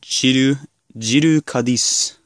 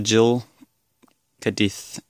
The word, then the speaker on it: Gill'e cadith: Based on the katakana, this is pronounced Gill'e cadith. So it's probably Gill'e cadith.